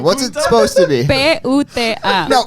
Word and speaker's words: puta: Spell it for me. What's it supposed to be? P-U-T-A.